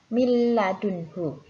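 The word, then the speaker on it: مِن لَّدُنْهُ: Contohnya min ladunhu ya, huruf nun sukun bertemu dengan huruf lam, maka harus dimasukkan ke huruf lam juga. Cara membacanya miladunhu.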